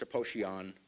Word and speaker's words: Aposhian: Now, my last name is Aposhian. It's correctly pronounced Aposhian, but I don't even say it like that. It's Armenian.